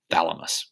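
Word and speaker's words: Chthamalus: This one here, I had to look up how you pronounce that. It different people say different things, but usually it's just pronounced thalamus, kind of like your hypothalamus in your brain, okay?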